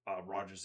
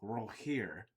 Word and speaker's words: Rogier: So I say that because of the just because of Roger's intelligence, but just knowing so many different things, especially about languages.